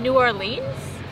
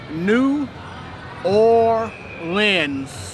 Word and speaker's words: New Orleans: Am I in New Orleans? You pronounce this city New Orleans. But like faster. A lens. New Orleans.